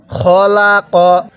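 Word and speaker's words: خلق: খবর খ লাম জবর লা কফ জবর ক খলাক শব্দটা কি খলাক এখন যদি ওয়াকফ করি তাহলে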